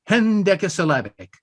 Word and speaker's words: hendecasyllabic: Hen is the first syllable, H-E-N. It's Greek for one. Deca, D-E-C-A, is the next unit. That means 10, 1 and 10. And then syllabic, hen decasyllabic.